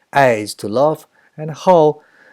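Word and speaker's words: 好: eyes to love and how it's not how anymore the pronunciation has been changed into the fourth tone and the meaning has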